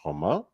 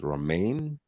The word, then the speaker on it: Romain: In French, Romain is pronounced Romain. Um, I guess the Americans pronounce it what, romaine? Um, like the salad or something, kind of lettuce.